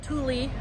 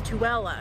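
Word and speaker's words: Tooele: says that everyone says tuella so it's not thule or 2l it's tuella i thought that was pretty cool so tuella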